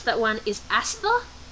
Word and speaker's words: Astha: Anyway, how to pronounce that one is Astha. Astha.